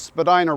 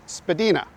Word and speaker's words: Spadina: parts continue to pronounce it Spadina but in the end the mispronunciation won out Spadina House museum is pronounced the original way but pretty much everyone else calls the street Spadina that's enough about pronunciation